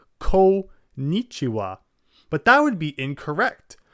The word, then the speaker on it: konnichiwa: middle and just say konnichiwa. But that would be incorrect. It's actually kon, so ko, that's the first syllable, and then the n, the n, so konnichiwa. Konnichiwa.